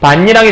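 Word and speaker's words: 밭이랑: 그럼 최종 발음은 뭐가 된 거냐면 그드브가 이응, 니은, 미음 중에 하나로 바뀌는 거니까 반니랑이라는 이 니은으로 이렇게 해서 이렇게 바뀌게 되는 거예요. 그래서 최종 발음이 반니랑이 된다라고 생각하시면 되는 겁니다.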